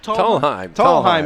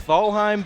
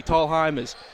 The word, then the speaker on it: Tallheim: Tallheim it is. It's pronounced, or it looks like Thalheim, but it's actually Tallheim.